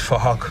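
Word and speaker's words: Phuc: His name is Fahok. It was spelled with a PH, so it sounds like Fahok.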